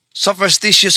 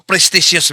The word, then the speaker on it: superstitious: Ang tamang termino sa English sopstitious belief. Hindi po presticious belief.